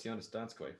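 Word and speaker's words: Jonas Donskoi: Like, just be like, hey, how do you pronounce this guy's name? Oh, it's Jonas Donskoy.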